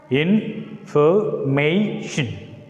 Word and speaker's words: information: So among the 4, the syllable is uttered with more force. It is said to be in a longer way. It takes extra force. We are emphasizing the particular, so that's why we put a stress mark on the third syllable.